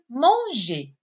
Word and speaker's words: manger: Chanter, qui se termine avec ER. ER, qui se prononce et. Chanter. Chanter. Sa terminaison donc à l'infinitif est ER. ER, colorié en rouge. Le deuxième verbe, c'est le verbe manger.